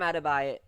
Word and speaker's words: Adebayo: on the back of emo Jimmy Butler, Bam Adebayo, Adebayo.